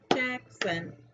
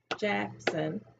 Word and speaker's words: Jaxson: o n jack sun you have two syllables in your name jackson two claps jackson so let's see what